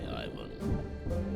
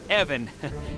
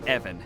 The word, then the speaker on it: Ivan: You might have saved my life today, so ask away, Ivan. Uh Evan, it's it's pronounced Evan with a short guttural.